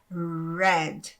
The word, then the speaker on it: red: Então, aqui, esse R, ele não é esse R do refrigerante, do restaurante, não é esse R arranhado, ele é um R bem dobrado, você vai pronunciar fazendo red, ok?